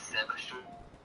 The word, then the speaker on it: Sebchoof: It's Sebchoof. Sebchoof, like that.